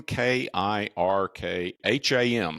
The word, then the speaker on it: Kirkham: name is Kirkham k i r k ha M so it's spelled phonetically it's Kirkham right it's real simple and the company is